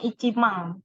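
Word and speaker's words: 一万: Nah, 10.000 ini bacanya Ichimang.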